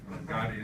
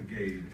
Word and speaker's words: Gade: But it's true, his name is pronounced like the crime lord. Gotti. It took me a couple of years to figure that out, actually. And I used to call him the Gade.